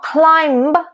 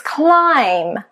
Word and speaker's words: climb: Then you've got a silent B after M. So it's not plumber, it's plumber. It's not climb, it's climb.